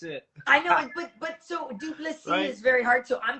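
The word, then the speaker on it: Du Plessis: Well, because on paper it's Dricus, and you're like Dricus, and then it's DU, and then it's PLESSIS, and I cannot speak French.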